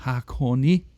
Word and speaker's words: Hakone: and i always like to hear how it's pronounced by them so uh hakonee okay that explains okay yeah i was trying